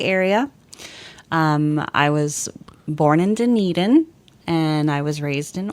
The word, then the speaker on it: Dunedin: It's Dunedin.